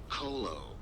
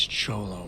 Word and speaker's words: Cholo: Colo alley off Bagley Avenue. How cryptic. Azekiel. It's near Sarif HQ. I'll look into it. Oh, and it's Cholo. Yeah, Cholo. Oh, yeah.